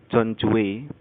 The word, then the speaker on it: Dewey: seorang filsuf yang bernama John Dewey. John Dewey itu nulisnya D-E-W-E-Y ya, bukan pakai J, bacanya J, John Dewey.